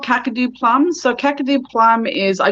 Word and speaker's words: Kakadu plum: lillypilly yeah and then cacao plums i'm not pronouncing that right yeah what kind of plum it's called kakadu plums so kakadu plum is i do have a